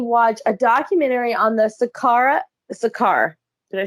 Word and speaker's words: Saqqara: I did recently watch a documentary on the Saqqara. Did I say that right? Saqqara, Saqqara.